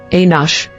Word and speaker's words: Enosh: inos origin Hebrew ANH meaning mortal or human pronunciation anos Bible verse Genesis 4:26 ESV to Seth also